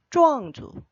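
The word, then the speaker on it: 壮族: 찌앤 조앙 할 때 쪼앙입니다. 네. 이쪽 계통은 건장한가 봐요. 예. 이쪽 민족들은 아주 건장하죠. 찌앙 할 때 그 쫙을 씁니다.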